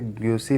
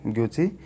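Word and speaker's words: Gucci: ये ग्यूसी लिखा हुआ, लेकिन इसका उच्चारण अगर देखें तो ये ग्यूची पढ़ाएगा।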